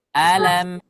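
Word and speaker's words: ألم: setelahnya ada huruf lam kebetulan lamnya adalah lam tipis ya jadi mudah diucapkan Alam coba semuanya alamamam jangan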